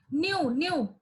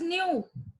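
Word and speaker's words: ν: v is frequency, sorry, this is not v, nu, this is nu, it is pronounced as nu, so it is frequency, it is frequency of that radiation.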